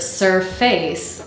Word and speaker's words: surface: this word surface then the two syllables sort of sound equally strong surface surface du du du du and we want this word to sound like d d so we need to reduce that face to F so that we have surface surface the fourth word is